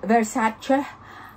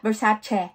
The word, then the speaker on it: Versace: she doesn't like is when english people or other people say versace it is not the way you pronounce the word versace but versace like that so i hope do